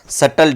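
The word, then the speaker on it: subtle: Small difference को कहते हैं बट बेटा सटल difference, that's not सबटल, बी is silent.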